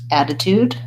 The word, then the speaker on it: attitude: attention to are that the first T add additude is a flap so it sounds more like a D and the second T is the beginning of the syllable so we stay with a T sound tude so if you write rewrite it like dude attitude so even though